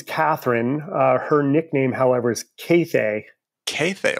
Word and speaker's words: Kathe: Her nickname, however, is Cathay. Cathay, like Cathay? That's right. Only 2 long A's, Cathay.